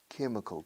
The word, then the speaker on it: chemical: Well, he works in a French chemical company. Se escribe chimical con che, pero al ser palabra de origen griego, la che tiene sonido de ka. Chemical, chemical, chemical, chemical.